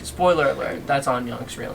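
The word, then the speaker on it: 안녕: Annyeong. Is that how you say it? Yeah, Annyeong.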